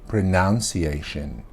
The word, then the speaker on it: pronunciation: video and I hear a lot of people say pronunciation pronunciation it is pronounced I pronounce the words